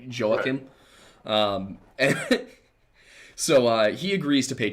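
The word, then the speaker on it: Jehoiakim: I keep wanting to say Joaquin, like Joaquin Phoenix, but I know that's not it. It's closer to like Joachim.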